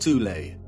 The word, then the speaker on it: Thule: society within germany called the soul society sometimes alternatively pronounced toulet that had sub-factions within